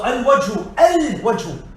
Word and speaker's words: الوجه: So الوجه. Waw is a moon letter. Lam is pronounced.